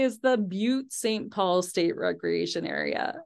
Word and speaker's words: Butte: just say is the Butte St Paul State Recreation Area okay I'm pretty sure that's pronounced but but I see this Recreation